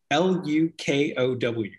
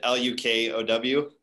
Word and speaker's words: Lukow: So it's probably one of those things where if you know somebody with a Czech last name, it's pronounced, you know, so many different ways.